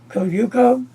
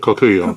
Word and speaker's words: Kokuyo: Koyuko, how you say it? Kokuyo.